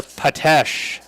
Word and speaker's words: Petish: Josh, I sent it up to Superintendent Bear, Patesh. I put emphasis on the last syllable, and she said it was correct.